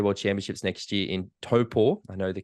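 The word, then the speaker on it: Taupō: hosting the 70.3 World Championships next year in topor I know the correct way to pronounce it now you are you know you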